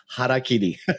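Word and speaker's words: hara-kiri: Harry Kari, as you would say in Japanese, how do you say it? You say it sounds cooler when you say it. Haraki.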